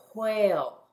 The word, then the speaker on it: whale: Do you see the silent E right there? Remember, that means that the A is going to say the long sound, A. Let's read it together. A. Oh. Whale.